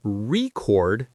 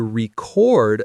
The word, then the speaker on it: record: Think of the word record. If I say, I want to buy a vinyl record, the stress is on the first syllable. It's a noun. But if I say, I need to record this podcast, the stress is on the second syllable. It's a verb.